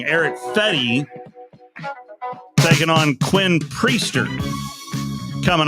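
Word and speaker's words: Fedde: Found out I was pronouncing that name wrong. Eric Fetty taking on Quinn Priester.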